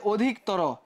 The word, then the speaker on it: অধিকতর: আসছে দেখো এই যে অধিকতর এই জায়গাতে কেমন হবে অটা কি হয়ে যাবে ও হয়ে যাবে কারণ কি এই যে রসই আছে আগের নিয়মে কিন্তু এখানে এপ্লাই হয়ে গেছে অধিক অধিক তর এই যে উচ্চারণে এখানে আমরা দেখতে পাচ্ছি ও হয়ে গেছে এই যে ও হয়ে